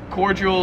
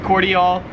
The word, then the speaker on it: cordial: pronouncing it different, but that's cordial or cordial. So yeah, in America we pronounce it cordial, whereas here in Australia it's pronounced cordial.